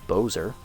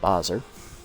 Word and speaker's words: Bozer: It is Bozer, not Bozer.